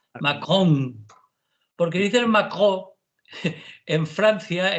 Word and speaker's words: Macron: Ojo, Manolo, pronuncia bien la N final. Macron.